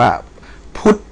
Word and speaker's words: พุทธ: อุ เอ่อ ทธ ทหาร ท ธง อ่าน ว่า พุทธ นะ ครับ ัน นี้ อ่าน ว่า อ่า พุทธ